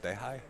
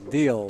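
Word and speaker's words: Diehl: Dehai? Dehai? Anybody know? Who? D-I-E-H-I or H-L. Is that H-L? that's Deal. Oh, Deal. that's an L. Okay. So was it him, Dr. No, Gregory no. Deal?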